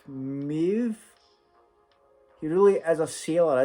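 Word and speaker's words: Möwe: The pronunciation is kind of like Maeve.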